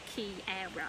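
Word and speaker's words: quiero: it says like um i'll make sure i put how it sounds in english so you don't have to try and pronounce the q-u-i-e-r-o because it's there for you like key aero if that makes sense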